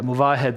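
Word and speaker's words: Movahed: Yeah, Muvahed is of course the correct pronunciation. We like to say that he's moving ahead, but he's seen a move ahead.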